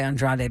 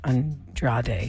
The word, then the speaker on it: Andrade: it looks like Andrade I always want to say Andrade but they pronounce it a different way on TV Rebecca and Andra day and for the breaking